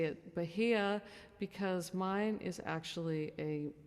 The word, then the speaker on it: Bahia: like Apple um also if you're in South America it's pronounced Bahia but I say it but here because mine is actually